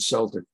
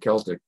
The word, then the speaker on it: Celtic: Celtic never came back or Celtic however you pronounce it NBA pronounces it Celtic the Irish pronounce it Celtic um and a lot